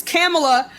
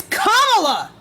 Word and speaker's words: Kamala: Camille are you dumb it's Kamala you have never heard her name pronounced any other way unless it's from some racist white conservative mouth it is comma do you understand she